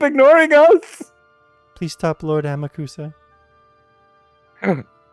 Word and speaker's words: Amakusa: It's pronounced Amakusa. You have to say it French.